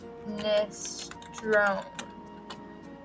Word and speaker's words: minestrone: Minestrone. I need like a pronunciation.